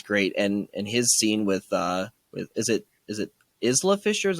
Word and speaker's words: Isla Fisher: But I think he's great, and his scene with is it Isla Fisher? Is how you say her name? It's Isla. I had to look it up because I've mispronounced it for apparently over a decade.